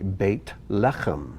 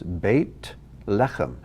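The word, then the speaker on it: בית לחם: translated bait el or the word bethlehem it's actually bait lechem two words bait lecham house of lechem house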